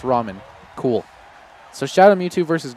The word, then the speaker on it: ramen: say okay ramen god it's pronounced ramen cool so shadow Mewtwo